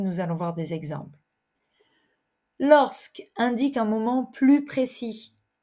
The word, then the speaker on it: lorsque: suivi d'un nom lorsque ici évidemment vous prononcez le S lorsque lorsque est toujours suivi